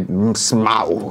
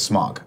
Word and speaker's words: Smaug: Okay, Smaug. I say it the right way. It seems like it's Smog. I'm like, no, if they wanted it to be Smog, it would have spelled it S-M-O-G.